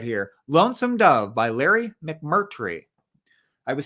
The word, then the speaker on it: McMurtry: lonesome dove by larry mcmurtry i was saying his let name wrong for the longest time i was saying mcmurty but it's actually mcmurtry but i want to